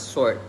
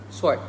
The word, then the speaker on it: sword: uh sword in the Standard English is pronounced as sword the w is a bit subdued and kind of hidden but in Singapore in English they would pronounce it as swart swart like the W is very pronounced like swart instead of like the subdued version in the Standard English where the W is instead very almost hidden just like H in hour so yeah next moving